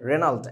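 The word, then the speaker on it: Regnault: আমাদের বইতে লেখা নাই রেনাল্ট আরই কি জানি আরইজি এন ইউএলটি জিটা সাইলেন্ট রেনাল্ট উচ্চারণটা আর কি হেনরি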